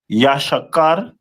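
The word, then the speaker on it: יששכר: And their name is pronounced in the Hebrew as Yashakar, which means he is hired, which is very accurate.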